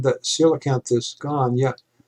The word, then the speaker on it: coelacanth: it mexico the coelacanth for those of you who don't know how to pronounce it i believe that's how you pronounce it it's coelacanth though the spelling is is kind of weird but this is protect